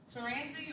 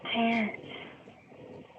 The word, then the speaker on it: Terrence: It's pronounced Terrence. Say it again? It's pronounced Terrence, like the guy Terrence. I'm named after my dad. Yeah, Teranzi. like Terrence Howard.